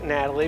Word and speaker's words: Gnatalie: to introduce you to Natalie Natalie spelled with a g n Natalie because of the Nats